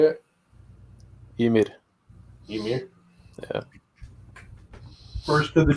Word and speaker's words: Ymir: Ymir.